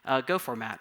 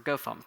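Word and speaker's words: gofmt: Well, thankfully, for the translation, Go already actually has a handy utility for formatting source code, Go format or GoFont, depending on who you ask how it's pronounced.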